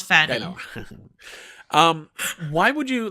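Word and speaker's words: Pfannee: Fanny Fanny he's Fanny yeah yeah it's it's pronounced Fanny um why would you like he's he's barely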